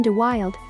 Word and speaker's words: De Wilde: De Wilde is pronounced De Wilde. It is still disputed if Brandon De Wilde was gay or straight.